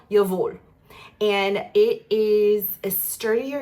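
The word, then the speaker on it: Jawoll: It looks like Jawul, but that's wrong. That's not how you pronounce it. I think it's called Yavul.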